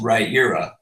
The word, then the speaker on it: Riyria: Well, it's actually pronounced Rhaenyra. Dang it. As in Sorry. rye, the bread, ear, the body part, and that's how you say Rhaenyra.